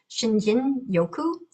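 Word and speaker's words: 森林浴: a Japanese practice called Shinrin Yoku. And in Japanese, which I do not speak, they don't pronounce the R as like that. It's more like a D, Shinjin Yoku.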